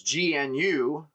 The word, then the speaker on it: GNU: Because G N U pronounced GNU like the animal is a uh public software license.